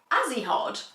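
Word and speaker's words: Ajihad: So, Azi Azihod. Azihod. That is not how I thought it was pronounced at all.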